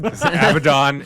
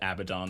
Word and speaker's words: Abaddon: workshop says it about games workshop is wrong avadon is a demon who goes much further back